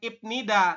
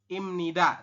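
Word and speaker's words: 입니다: ipnida seperti ini Nah ini kan ada B di akhir ketemu dengan Nin di atas maka B berubah bunyi menjadi M maka kita membacanya Bukan ipnida tapi dibacanya adalah imni imnida seperti ini ya jadi perubahannya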